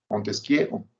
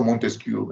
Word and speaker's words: Montesquieu: Montesquieu en francés o Montesquieu en castellano.